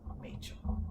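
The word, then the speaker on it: Machell: And they all said, to rhyme with the woman's name of Rachel. So, Machel.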